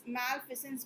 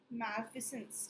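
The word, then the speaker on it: malfeasance: ठीक है, मालफेंस, मैल, हाँ ये देखो, मैलफिसेंस बोलेंगे इसको। इसका प्रोनाउंसिएशन देख लो, मैलफी मैलफिसेंस।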